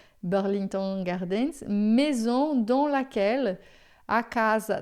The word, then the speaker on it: Burlington Gardens: Burlington Gardens, a gente vai pronunciar assim a francesa, Burlington Gardens, maison dans laquelle, a casa na qual.